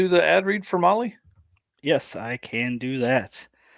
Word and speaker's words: Mahle: And for those podcast listeners, Molly is spelled Mahle.